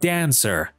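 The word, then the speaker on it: dancer: به فرض ما میگیم دانسر. دانسر. سیلابل اول استرس میگیره. نمیگیم دانسر. سر. سیلابل دوم به چمان استرس نمیگیره.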